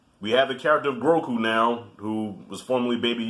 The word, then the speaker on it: Grogu: Is it Grogu or Groku? I think it's Grogu. I think that's how you say his name.